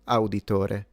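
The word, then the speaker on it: Auditore: It's just e z i o in Italian. Etsio auditori if you want to say it the Italian way.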